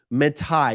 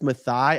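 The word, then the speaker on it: Matthai: someone has hired Edith matai you guys are gonna have to tell me how to pronounce this one m-a-t-t-h-a-i I don't think it's mathi I think it's matai Edith matai now when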